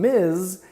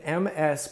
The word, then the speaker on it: Ms.: And the final sound in Ms. is a Z sound. Even though it's written MS period, the abbreviation, we pronounce it Ms.